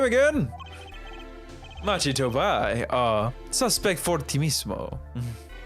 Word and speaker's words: fortissimo: Machito Bai, suspect fortissimo. Fortissimo?